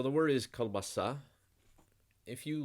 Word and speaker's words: колбаса: not saying cool and you're not saying car either like the shortened ah you're something in between so it's called color almost like coal bus it's on the last syllable kielbasa so the word is kielbasa